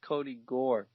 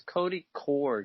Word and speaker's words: Cody Core: a core core core I've been saying his name wrong this entire time and he's been on the team for like it I've always thought it was Kody Gore because Cody core just never sounded right and I'm in my